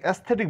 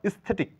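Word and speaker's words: aesthetic: না বলে বলবো আইল আইল মানে করিডোর এটাকে এস্থেটিক বলে থাকি কিন্তু এস্থেটিক না এখানে এই লেটারটির কোন সাইলেন্ট এই লেটারের কোন সাউন্ড নেই এটা সাইলেন্ট লেটার অতএব উচ্চ করা স্থেটিক দৃষ্টিনন্দন আমরা আমেরিকা বলে থাকি কিন্তু সামনের এই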